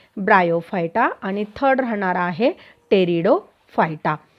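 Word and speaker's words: Pteridophyta: आणि थर्ड राहणार आहे टेरिडोफायटा. इथे टेरिडोचं स्पेलिंग टी पासून सुरू होतं आहे की पी पासून. मग इथे टेरिडोफायटा काय प्रोनाउन्सिएशन आहे, पी इथे काय आहे लपलेला आहे, सफिक्स आहे, इथे थोडंसं लक्षात घ्या.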